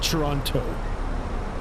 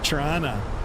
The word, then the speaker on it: Toronto: I I pronounce it Toronto. So, like I don't pronounce the T's. Nobody actually does from Toronto. Some of them even put a more of an accent on it. Trana. They call it Trana.